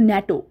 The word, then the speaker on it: NATO: ন্যাটো একটা ওয়ার্ডের মতন প্রোনাউন্স করা হয়, ন্যাটো, কিন্তু আমরা NATO বলি না, আমরা বলি ন্যাটো।